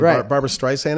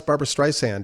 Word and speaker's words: Barbra Streisand: character playing john peters who was uh dating barbara streisand at the time yeah that was bradley cooper